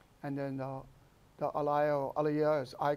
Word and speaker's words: alaia: people call in Alaia it's actually if you pronounce it's a Leo right it's talking about the path of the